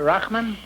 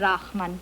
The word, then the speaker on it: Rachman: And you are Rockman? Well, it's really Rachman, but nobody can pronounce...